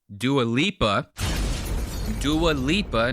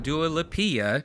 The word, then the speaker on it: Dua Lipa: This little headline that they're going over on this podcast is Dua Lipa, not Dua Lipa, Dave.